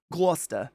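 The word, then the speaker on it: Gloucester: Irish family there is what I'm saying in gler uh gler you got to get Lobster and gler which by the way is spelled Rochester words don't make sense um but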